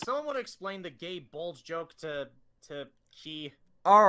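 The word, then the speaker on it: Gáe Bulg: in a joking sense, people pronounce it as gay bulge because of how gay bulge is spelled.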